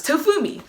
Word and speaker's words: Tofumi: me but i always introduce myself as tofumi only three syllables long yet three syllables shorter than my full first name but more often than